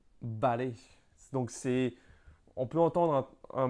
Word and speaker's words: vale: Par exemple, le mot d'accord en espagnol, c'est vale, vale.